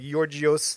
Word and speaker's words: Georgios: because his name Georgios, you're supposed to say it like Georgios, like Yeah, George.